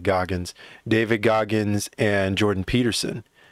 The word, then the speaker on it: Goggins: right now are um david goggins or gogans i think he pronounces it goggins david goggins and jordan